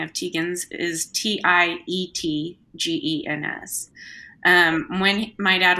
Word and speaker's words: Tietgens: The real spelling of Teegins is Tietgens.